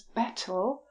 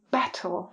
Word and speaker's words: battle: It's the T. You can hear the T. The Americans don't pronounce the T, so I'll just pronounce battle and bottle.